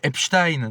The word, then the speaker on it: Epstein: Alors qu'en réalité, ça se prononce plutôt Epstein. Donc Epstein plutôt comme Einstein. Voilà.